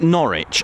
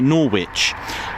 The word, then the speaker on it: Norwich: We have like Norwich. I hear US personnel or just general, people from America say Norwich. I understand that it's got a W in it. So why is it not pronounced Norwich? I get it.